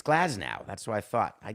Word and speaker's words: Glasnow: pronouncing I am wrong so it's glaz Gau or glaz now I can't be wrong with both it's glaz now that's what I thought